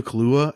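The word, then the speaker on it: Kaluuya: oh my gosh horns and Daniel Cole Dino Kahlua that's how you say it I got from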